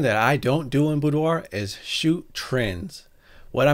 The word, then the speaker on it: boudoir: setting of its definition budoir is a French word pronounced as budo and it is referred